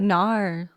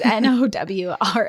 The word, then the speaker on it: Nowra: Is it like Nar? Like Nar? Nar. Nar. Nar. No, it's Nowra.